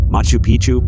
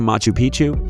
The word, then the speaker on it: Machu Picchu: Machu Picchu, Peru. When a place rhymes with picture, you can almost bet it will always give breathtaking images every time.